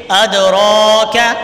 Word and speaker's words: أدراك: ادراک، را کے اوپر کھڑی زبر ہے، اس کو بھی کھینچیں گے اور کاف باریک پڑھیں گے.